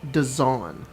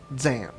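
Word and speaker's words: Dzaan: and i'm really sorry it's pronounced design not zan design who oh the wizarding oh oh sorry anyways i asked him a question about it and then he spelled it d-z-a-a-n and i was like i'm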